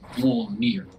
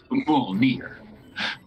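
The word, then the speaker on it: Mjölnir: And one of the characters pronounces it Mjolnir. Mjolnir. It's actually, have to roll the R, but not like a Spanish roll.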